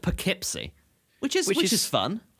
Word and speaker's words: Poughkeepsie: an english township it's like yeah it's like pal keepsy but it's pronounced poughkeepsie which is which is fun stupid and wrong